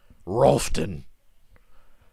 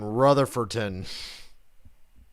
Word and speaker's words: Rutherfordton: It's fucking Rutherfordton. Rutherfordton, North Carolina. Not Rolfton like these jackoffs say. It's a lot of syllables. Rutherfordton, yeah, for a town name.